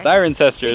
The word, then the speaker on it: Cirencester: to the town of Cirencester? Cirencester. Cirencester is how you pronounce it. Cirencester, but apparently we were way off.